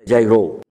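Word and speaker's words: Giairo: Gesù lasciò quel luogo dove ha risuscitato la figlia di Gairo, o Gairo. E comunque, siccome tutte le parole ebraiche per sé finiscono con, come la francese, con l'accento in fondo, sarebbe Jairo.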